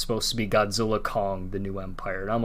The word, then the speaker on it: Godzilla x Kong: the director is said you're not supposed to pronounce the X it's supposed to be Godzilla Kong the new Empire and